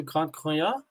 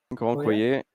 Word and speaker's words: Grand Coyer: Jean-Francois saying he's going to Grand Croyat. Grand Coyer. Coyer, yeah. Sorry, my French pronunciation.